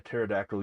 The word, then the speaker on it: pterodactyl: can't you hear a pterodactyl use in the bathroom because the p is silent this is going to